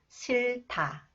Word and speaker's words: 싫다: final cons h combed with h is 타 싫다 싫다 나는 추운 날씨가 싫다 나는 추운 날씨가